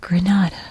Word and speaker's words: Grenada: grenada because you know a british stiff upper lip sees this written down and says grenada instead of granada so that's why it's called grenada because it's it's the snotty british pronunciation of granada i can say that